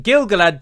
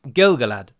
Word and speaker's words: Gil-galad: rules are that if Gil-galad generally is always written as Gil-galad, which is two separate words. In that instance, the stress would be on the gal part of the second name, so it would be Gil-galad.